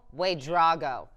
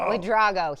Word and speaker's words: Wadrago: Jill Wadrago. That's how you say our triple jumper. Shout out to Paul Carmody for that pronunciation. Wadrago.